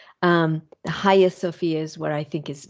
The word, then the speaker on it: Hagia Sophia: and it is titled ha Sophia that g is silent although I've always pronounced it haia Sophia um the high Sophia is what I think